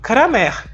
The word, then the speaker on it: Cramer: com relação a pronúncia porque é comum as pessoas dizerem A Regra de Cramer e o nome do matemático que a popularizou é Kramer então é Regra de Cramer